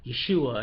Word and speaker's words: Yeshua: you hear people say his name is yeshua yeshua and you'd be like what there was no j j didn't exist that's why certain names